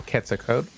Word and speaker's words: Quetzalcoatl: Anade, raise money for a new service animal, Quetzalcoatl. The proper Nahuatl pronunciation for the deity you may know as Quetzalcoatl, or I did.